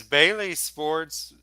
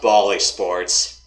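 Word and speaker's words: Bally Sports: it's on tvs pbs okay is that is bailey sports wha is that its own separate channel all right so oh oh i know what you're talking about oh it's pronounced bali sports all goodbye okay that used to be fox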